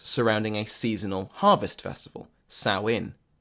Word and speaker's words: Samhain: a seasonal harvest festival sow in sow in which is spelled s a.m. Haan and which I believed was pronounced Samhain until I was informed otherwise was a feast practiced